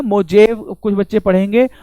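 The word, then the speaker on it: Mojave: मोजावे (कुछ छात्र पढ़ेगा, अमेरिका में 'J' उच्चारण नहीं करता, 'हे' का उच्चारण (करता है), इसलिए यह यह मोजावे रेगिस्तान है।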